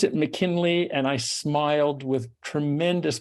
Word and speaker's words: McKinlay: but do you just pronounce it McKinley I pronounce it McKinley and I smiled with tremendous pleasure when you